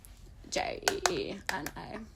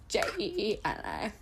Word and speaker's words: Jeena: Both 2 E's. Where the there's, like, so is it Jeena? Next to each other. Okay, so it's like nails spelled like Jeena. Jeena. Oh, but one N. Jeena.